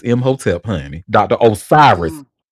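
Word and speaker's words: Imhotep: Did you say hotelep? Um, M hotelep. Uh, so his name is spelled I M H O T E P. Yes, it is M hotelep honey.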